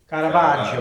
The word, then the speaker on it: Caravaggio: So, give us the pronunciation that you would like to hear on the script. Caravaggio. Caravaggio.